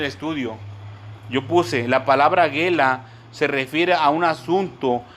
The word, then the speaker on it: gela: La palabra en su original griego se traduce como gela, gelá, con acento en la A, gela, G-U-E-L-A, gela, y significa revelar y también llevar cautivo o mostrar.